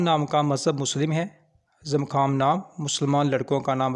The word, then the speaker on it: زمخام: وبرکاتہ۔ Welcome to baby names diary. نام ہے زمخام۔ زمخام نام کے انگلش میں سپیلنگ ہے ZAMKHAM، زمخام۔ زمخام نام کی جنس